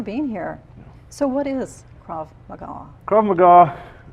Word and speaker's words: Krav Maga: Pronounced Krav Maga.